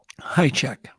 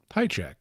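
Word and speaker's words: Hajicek: Just so I hear it from the horse's mouth, how do you pronounce it? High check. High check.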